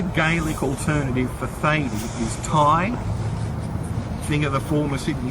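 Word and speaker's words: Tadhg: And Ty, spelled T-A-D-G-H, can also be translated as Thaddeus, Theophilus, Theodosius, and it was anglicised as both Thady and Teague, pronounced Taig, T-A-Y-G. That's how you would spell it phonetically.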